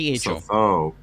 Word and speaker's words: Lesotho: Lesovo. Oh, I feel like giving you a point off for that. It is South Africa, but it's Lesotho. THO. Lesotho.